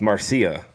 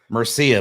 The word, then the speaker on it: Marcia: It's Marcia. Murcia, but it's spelled Murcia. It's an A, but he left the A open up at the top, so it looked like a U.